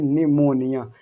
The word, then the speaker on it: pneumonia: तो यहाँ पर आपको सिर्फ पढ़ना है कि निमोनिया, P को नहीं पढ़ना, सिर्फ यहाँ से पढ़ना N से।